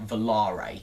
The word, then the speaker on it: Volare: a zampala velarae coaster a lot of people call them velar coasters however a member of sns has no not sns a member of zampella has announced that it is actually pronounced volare so imagine the trains